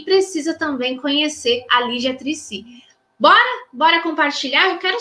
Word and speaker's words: Triccy: Olha, eu aprendi a pronunciar o nome dela corretamente, porque a gente acha que é o Trissi, mas é Trissi.